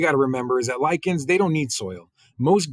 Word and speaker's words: lichens: are known as lichens right that CH is pronounced as a cut so that's first lichens that do not need soil to survive they grow on rocks right so that's what you got to remember is that lichens they don't need soil most green things most